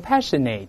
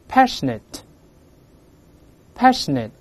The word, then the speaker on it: passionate: 读 it，所以不要读成 passionate，跟老师大声的没 passionate 是 net 不是 nate，而且读坏